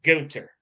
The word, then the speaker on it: Gunther: it Gunther or is it Gunter I I pronounce A Gunther but that's just me is supposed to be Gunter yeah well I prefer to film I prefer